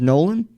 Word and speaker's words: Nolan: we'll introduce you your your last name the pronunciation is nolan yeah sweet all right